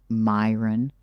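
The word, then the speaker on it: Miran: Myin, don't spell your name M I R A N and pronounce it M Y R O N.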